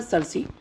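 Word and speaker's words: Circe: इसका प्रोनाउंसिएशन होता है सर्सी.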